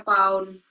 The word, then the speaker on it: lbs: agak aneh emang tapi LBS itu dibacanya p Kalau enggak salah Hound yang mana yang mana LBS ini kan itu tuh kalau di k kita kan kilogram kalau di Amerika pakaiya pound bacanya bukan Iya dulu aku bacanya